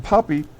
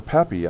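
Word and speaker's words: Stan Papi: Stan Poppy or Papy, I think it is actually pronounced.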